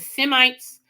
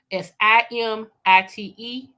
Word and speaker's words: Semites: Some people pronounce it Semites, Simite. Some people Shemites, Shemits.